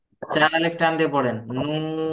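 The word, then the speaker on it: نون: এখন খেয়াল করেন চার আলিফ টান দিয়ে পড়েন নুন নুন উচ্চারণের সময় ঠোঁটটা একটু গোল করে দিতে হবে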